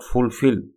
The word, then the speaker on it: fulfill: Again the word fulfill is pronounced with more force on the second syllable.